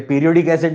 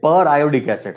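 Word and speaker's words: periodic acid: पीरियोडिक ही तो है, मगर ये पीरियोडिक एसिड नहीं है, ये पर आयोडिक एसिड है, प्रोनाउंसिएशन ध्यान रखना, पर आयोडिक एसिड, राइट।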